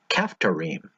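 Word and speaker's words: כפתרים: And don't worry about the English translations of the last 2, the Philistines and the Kephtorites, because in Hebrew they are pronounced Pelishtim, Kephtorim.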